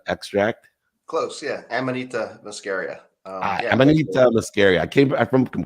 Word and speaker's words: Amanita muscaria: me an idea and I hope I can pronounce it right it's a Amanda muscaria extract close yeah Amanita muscaria um scary I came from Cabo I should